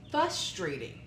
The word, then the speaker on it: frustrating: People who pronounce it frustrating. Ah! Without the R at the beginning.